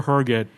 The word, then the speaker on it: Herget: Yeah, and in the show notes I wrote HUR-giht in parentheses, still pronounced Oh my HUR-giht.